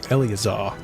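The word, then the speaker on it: Eleazar: Also, I said the name wrong. Elazar.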